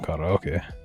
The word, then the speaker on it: karaoke: There's literally a, I, u, e, o. It's the easiest language to pronounce. Ka, ra, o, ke. A, ni, me. Ma, n, ga.